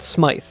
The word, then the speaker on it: Smyth: which is confusing because when that's a last name it's pronounced smythe so i don't think